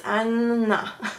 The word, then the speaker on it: Anna: So Anna is not Anna, it's Anna because there's two N's, so they pronounce each N's.